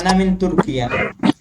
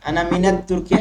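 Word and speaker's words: تركيا: আর যখন তুরস্ক আসে তখন আনা মিন তুর্কিয়া, তখন আত তুর্কিয়া নাই, আনা মিন তুর্কিয়া, আনা মিনাত তুর্কিয়া, এটা ভুল।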